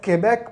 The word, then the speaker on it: Quebec: is the province of Quebec it is a French name and pronounced as Quebec by the French but why this state